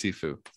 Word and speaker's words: Shifu: name uh Shifu enzam Shifu it's it's pronounced sifu oh sifu but anzan